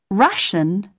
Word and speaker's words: Russian: listen again check pronunciation russian never rhymes with nation say prefer but preferable